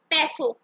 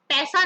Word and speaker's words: Peso: नाउ पैसो, पैसा नहीं है ये, पैसो स्पेलिंग देखो, PESO पैसो।